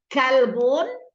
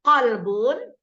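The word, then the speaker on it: قلب: 180 derajatnya artinya ya kalbun dan qolbun beda artinya kalbun apa album kalau kita ingin Maksudnya yang baik kau adalah hatiku jantung hatiku tapi salah membacanya ya jadi Untuk itu perlu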